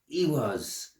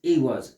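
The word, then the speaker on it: Ehwaz: Yeah, Ewas. It's Ewas, and Ewas is death, change, rebirth, magic to a certain extent.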